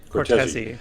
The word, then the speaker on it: Cortese: Am I pronouncing that right, or is it Cortese? That is right. Cortese, yes.